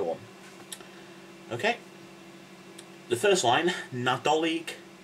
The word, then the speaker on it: Nadolig: you had christmassy stuff remember the g at the end though right this is